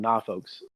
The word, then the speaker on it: Norfolk: In Virginia, which is where Norfolk is, that's how they pronounce it. They call it Norfolks.